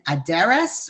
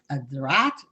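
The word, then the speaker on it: Aderet: So his actual name from his the initials is Rabbi Shlomo ben Aderes or Aderat, from ways of pronouncing it, and he lived from the years 1235 until 1310.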